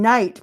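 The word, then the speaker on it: knight: six in sticks rhyme K as in night because it's Kite wait that's the worst word to use for K and ate as in you ate that up why would you pick a word with a silent k are you laughing so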